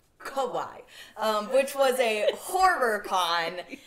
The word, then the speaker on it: Kauai: Is that how you pronounce Kauai? It? Yeah. Kauai. Not Kauai. Kauai.